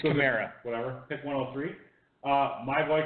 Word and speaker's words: Kamara: Alvin Kamara, I always pronounce it wrong, I don't really care. It's Kamara.